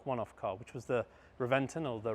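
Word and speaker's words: Reventón: And if we go back to 2007, perhaps even today, the most iconic one-off car, which was the Reventon or the Reventon as it's pronounced, was introduced and it looked like a F22 Raptor on the road.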